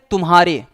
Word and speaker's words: तुम्हारे: स्पष्ट करना चाहते हैं, जब हम उच्चारण करते हैं, तो म ध्वनि को पूरा उच्चरित करने से पहले ही हमको ह पर संक्रमण करना पड़ता है।